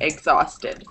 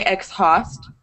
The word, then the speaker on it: exhaust: tired in both cases you don't pronounce the h you don't say x host X host and do that extra breath exhaust it's just exhaust the H disappears V mint behemoth is like